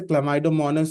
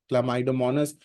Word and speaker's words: Chlamydomonas: था, अमीबा का पढ़ा था, उसी तरह से क्लामाइडोमोनास is also a single celled organism. ये एग्जाम्पल याद रखना, क्लामाइडोमोनास, खासकर इसका स्पेलिंग याद रखना. Okay, you सी CHLAMYDOMONAS, क्लामाइडोमोनास single cell organism होता है.